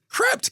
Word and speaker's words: Krept: they are know how you pronounce it crept kre PT and Kon en Krept and Konan all right yeah but